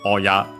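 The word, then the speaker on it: 親: For example, hahaoya, which literally combines it with the term oya on its own, accent on the last syllable.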